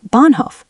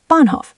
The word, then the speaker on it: Bahnhof: But Bahnhof, train station, is Bahnhof, stressed first.